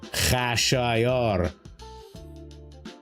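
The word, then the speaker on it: Xerxes: Yes, his name in Farsy is pronounced Kashor.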